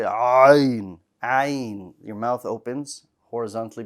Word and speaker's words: ع: Ayn. Ayn. Very good. This is a pretty difficult letter to pronounce. So this one's going to require some practice. It's not impossible. It just needs practice.